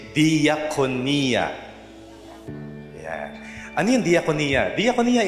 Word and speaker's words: diakonia: See, you don't pronounce it that jakonia. Gagalit yung mga Greeks kapag narinig na yan. But you say diakonia.